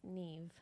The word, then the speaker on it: Niamh: It is spelled uh N A I H M I believe, but I have been told it's pronounced neve.